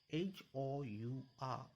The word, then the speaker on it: hour: See, H-O-U-R, hour. But the H is silent. Here you are pronouncing is from O. Hour. So you have to use an hour.